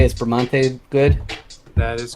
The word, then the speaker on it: Bramante: I'd pronounce it Bramante. Is Bramante good?